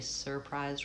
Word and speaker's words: surprised: I'm not always saying surprise. Surprise. I do think sometimes people pronounce that with just a vowelwah. Surprise. I was very surprised. Um, I think the proper pronunciation is probably surprised with an R.